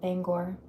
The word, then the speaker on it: Bangor: I thought it was banger. I know a lot of people mispronounce it. Or there's another way that they say it, Bangor.